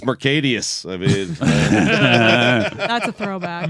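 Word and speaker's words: Marcedes: I think it's pronounced Mercadius.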